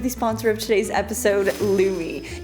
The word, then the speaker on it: Lume: And that is because of the sponsor of today's episode, Lumi. Not to be pronounced Loom. It rhymes with gloomy.